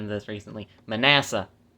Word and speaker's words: Manasseh: Manasseh. It's apparently pronounced Manasseh.